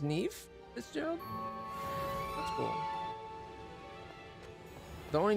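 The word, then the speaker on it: Niamh: So that's pronounced Neve, Fitzgerald?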